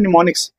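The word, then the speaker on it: mnemonics: पता है क्या बोलते निमोनिक्स बोलते हैं निमोनिक्स ठीक एम साइलेंट होता है इसलिए नि एन से पढ़ा जाता है निमोनिक्स और ये जो है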